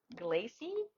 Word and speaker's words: glacé: It's what's the details of the scent The and scent notes, top notes yes, is toasted almond and sugar glacy. Is that how you say it? glacé, Glacé.